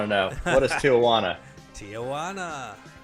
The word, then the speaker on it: Tijuana: Tijuana. Rhymes with that.